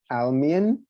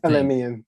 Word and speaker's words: Alemian: So first slide is work by C. Almian. I do not know how to pronounce that. Please forgive me. I think it's Alemian. Alemian, thank you.